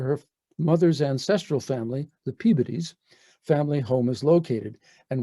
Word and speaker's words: Peabody: While Peabody is the same Peabody you see up here, down in Baltimore, they pronounce it Peabody.